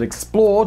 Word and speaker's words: XPLRD: channel that I run called Explored, which is spelled X-P-L-R-D because apparently I hate vowels.